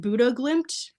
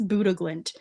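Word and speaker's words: Bodø/Glimt: the big story of the day is, I think you pronounce it Buddha Glimt. I know it's spelled Bodo Glimt, but I think it's Buddha Glimt.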